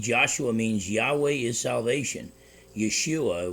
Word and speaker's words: Yeshua: Yeshua would be the way it would, close to the way it's pronounced.